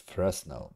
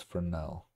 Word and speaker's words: Fresnel: And I always said it's Fresnel because there's, I believe, S in there, but as far as I learned quite recently, it's Fresnel. Like you don't pronounce the S. The S is silent.